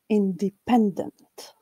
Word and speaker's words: independent: And finally, the fourth syllable, dent, is unstressed. Independent.